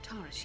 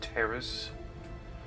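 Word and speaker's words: Taris: You mean you don't have a plan to get off Taurus yet? What have you been doing all this time? It's pronounced Terrace.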